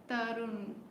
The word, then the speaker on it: तरुण: तरुण, तरुण, तरुण नाम है आपका, ऐसे प्रोनाउंस करना है इसको।